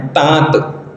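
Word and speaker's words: ताँत: शुद्ध है तात अब तात को बोलेंगे तो चंद्र बिंदु का प्रोनंसिएशन उच्चारण होता है तात चंद्र बिंदु का इस्तेमाल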